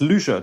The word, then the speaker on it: Lüscher: this year and it's the loot share test and forgive me if I'm pronouncing that wrong but oh it's it's Lucia test yeah pronunciation was quite okay thank you thank you